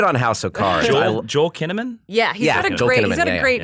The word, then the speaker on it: Kinnaman: Joel Kinnaman? Yeah, he's got a great yeah. name, but. Yeah, I don't know. He was fine in Suicide Squad. It rhymes with cinnamon.